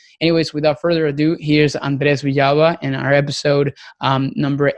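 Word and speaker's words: Andrés: And if we do, that can actually, pronounce it the right way. So I appreciate Yeah, rolling the R's, right?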